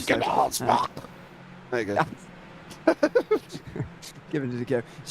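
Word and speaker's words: Hugenholtzbocht: Hugenholzbach. Hugenholzbach, You've got to use a bit more throat than we are, but we're not Dutch. Hugenholzbach.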